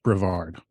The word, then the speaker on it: Brevard: as a Halloween festival at the time it's pronounced Brevard okay well there you go I've never been I I grew up about 10 minutes from Brevard okay so edit that out no Brevard Halloween festival and just for everybody listening at